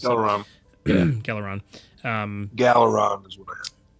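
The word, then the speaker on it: Gelaron: Galeron. Um, Galeron is what I It's So, it's G E L A R O N. Dang it, that was so close. Geleron.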